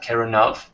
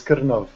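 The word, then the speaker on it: Krnov: and he is broadcasting out of, if I pronounce it right, Keronov. Out of the Czech Republic. Hi, everyone. Great. Yeah, did I pronounce that right? It's a painful one, but it's Kirnov.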